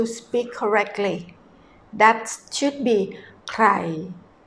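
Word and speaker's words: ใคร: In Thai we pronounce ใ ค ร . Actually with an R sound, but Thai people have a problem about roaring the tongue, so we pronounce ใ ค ร without an R sound, a speaking language.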